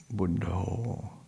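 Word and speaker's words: Buddho: of the buddha saying pronounced in in the thai way buddha and and it's i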